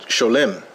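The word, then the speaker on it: שלום: This is Hebrew spoken here in an English, using English characters, and then it comes out as shalom. But in Yiddish, they would pronounce it sholem.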